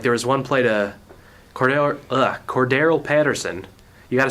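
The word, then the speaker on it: Cordarrelle Patterson: Like there was one play to Cordero Patterson. You got to say his name like that, otherwise you're going to not say his name right. Cordero Patterson.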